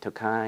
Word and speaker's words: Tokaji: but moving on to the nobleman again is pronounced Tokai of course there's different dialects in Hungary and there might be a little play on that but for the most part just call it takai and Rye it works all right 107 proof